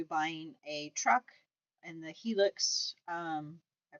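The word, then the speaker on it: Hilux: And so I think we're leaning more towards possibly buying a truck and the Helix. I pronounce it right? Yeah, it's a Helix.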